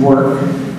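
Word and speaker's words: VVORK: you might know called VB o r k pronounced work um which we were featured on MTA recently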